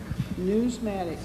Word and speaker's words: numismatic: Whereas the National, how do you say that word? Newsmatic. That's it. You said it right. National Numismatic Association is a federally